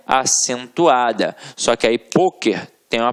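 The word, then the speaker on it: pôquer: por isso ela é acentuada só que aí poker tem uma pronúncia fechada E aí leva o assento circum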